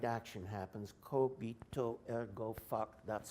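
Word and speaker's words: cogito ergo: that you think and the right action happens kobito ergo that's how it's pronounced my latin knowing friends tell me I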